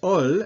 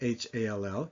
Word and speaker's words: hall: But these words, hall, H-A-L-L, that H is still silent, meaning hall, homard, meaning lobster.